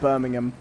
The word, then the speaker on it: Birmingham: Yes, but it's pronounced Birmingham.